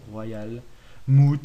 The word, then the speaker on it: Royalmouth: La serre du Royal Moot ou Moot, hein, ça dépend. Il y en a, ils savent pas prononcer. Perso, je dis Royal Moot, hein, parce que à mon avis, ils ont dû s'inspirer du mammouth pour ce blaze.